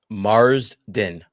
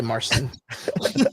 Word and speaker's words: Marsden: So, uh what's how do you say his name? James what? Marsden Marsden. Say that. I'm gonna say Marston. I'm going to say it wrong on purpose cuz that's what I I mean that's that's on brand.